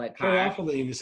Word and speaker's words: caryophyllene: Caryophyllene is how they pronounce it.